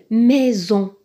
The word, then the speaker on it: maison: Maison, maison. Dans le mot maison, le S est placé entre un I et un O. Le I est une voyelle, le O est une voyelle. Donc il est placé entre deux voyelles. Pour ceci, il se prononce Z.